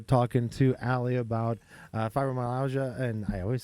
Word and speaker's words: fibromyalgia: Um, if for those that are joining us, we're we're talking to Ally about uh fibromyalgia.